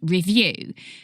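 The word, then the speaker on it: Revue: i guess with a company called review which is spelled r-e-v-u-e and through review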